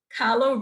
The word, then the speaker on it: Kahlo: Kahlo rhymes with follow.